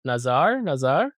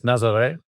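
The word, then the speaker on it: Nazaré: Nazar. It's Nazare. Nazare? There should be an acute on an accent on the E.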